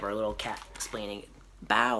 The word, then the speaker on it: bao: perfect bow if you notice here the word bow is spelled b-a-o which is different from when um